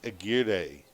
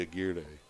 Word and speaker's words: Aguirre: based on experience that's a gear day though the pronunciation of the name yes it's unlike marker guar it's spelled the same way but around Central and South Texas generally a gear de Aguirre yeah yeah and